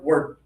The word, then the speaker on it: word: So, let's just say it really quickly together, word. That's easy, okay? And it's not actually even word, it's word. Word, like rhymes with bird, okay?